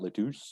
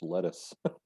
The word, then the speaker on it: lettuce: no not that one it's not leduc it's lettuce lettuce yeah and there is